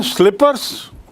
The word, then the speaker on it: slipper: slipper you pull slipper you don't pronounce it sleeper look sleeper casting i